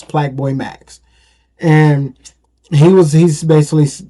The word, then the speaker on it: Plaqueboymax: Now, is it maybe play and but it's spelled Plaque, so it's Plaqueboymax.